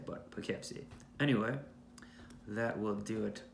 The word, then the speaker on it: Poughkeepsie: York probably don't know how to say but Poughkeepsie anyway that will do it for this episode